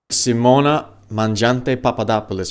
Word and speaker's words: Simona Mangiante Papadopoulos: Simona Mangiante Papadopoulos. Perfect pronunciation.